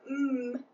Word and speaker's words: Ng: video and she said it's pronounced like mmm but with your lips open so Janette mm-hmm maybe